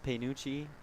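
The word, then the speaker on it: Pagnucci: Apology to the Panucci family as I have just learned the G is silent. It's like lasagna. Lasagna, Panucci, the same thing.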